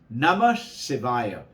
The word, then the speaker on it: Namah Shivaya: So, Namah Shivaya. Remember? Na, ma, si, va, ya. 5 syllables.